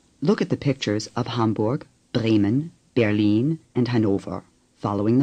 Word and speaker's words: Hamburg: The R is hardly pronounced. Dort. Say, Dort. The U in Mund is like the U in Hamburg.